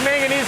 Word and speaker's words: manganese: Yep, and then here's your zinc manganese. Not magnesium, I'm saying it wrong, right? Yeah, it's a manganese. Manganese, right. It's totally different from magnesium.